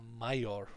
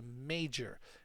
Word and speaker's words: major: always mispronounced by students it's not a my or role it's a major major role so significant major vital